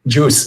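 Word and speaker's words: Guice: Is that Juice is the pronunciation.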